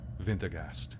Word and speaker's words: Wintergast: You seem to remember a story of something called, a Wintergast? How'd you spell that? Wintergast. But you say it more German. Wintergast.